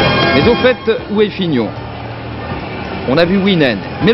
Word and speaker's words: Fignon: qu'est-ce qui a gagné c'est Figon comment Figon Figon non pas figeon Fignon Fignon ça s'écrit F